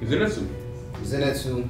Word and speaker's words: Zenitsu: This time to, I never knew how to say his name, Zenitsu. That's right, that's it. Zenitsu.